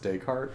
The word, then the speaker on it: Descartes: tez or they art so the S is silent Renee just Rene Descartes so it's just Descartes that's it like ta